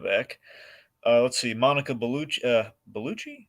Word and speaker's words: Bellucci: Bellucci? Is that how you say it? Yep.